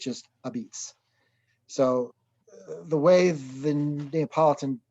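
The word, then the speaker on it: apizza: the phonetically way, A-P-I-Z-Z-A, which to the Nabalidan dialect would be abits. So it's supposed to be a substitute for la pizza, the pizza. So they don't use the L, it's just abits.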